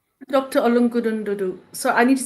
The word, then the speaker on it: Ologududu: Ologududu. So I need to say this properly, right? Dr. Ologududu.